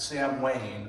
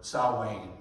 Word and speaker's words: Samhain: And that was known among the Druids as Samhain, or Samhain, as we pronounce it.